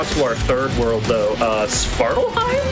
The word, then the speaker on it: Svartalfheim: Svartalheim? Svartalfheim, yes.